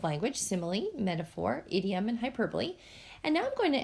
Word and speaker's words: hyperbole: about today is pronounced hyperbole not hyperbole please put the accent on the second syllable hyperbole and it's a gross